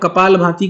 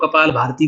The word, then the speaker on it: कपालभाति: करना ठीक है ना अब कपालभाति को कुछ लोग कपाल भारती बोलते हैं।